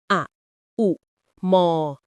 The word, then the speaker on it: โอม: ทำ สมาธิ หรือ โยคะ เรา จะ ออก เสียง อะ อุ ม แบบ ยาว ๆ เพื่อ ให้ จิต ใจ